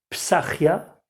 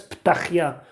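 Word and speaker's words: פתחיה: Masechet Shkalim dit que Psachia, en prononciation ashkénaze, Ptachia, prononciation sfarade, était Mordechai.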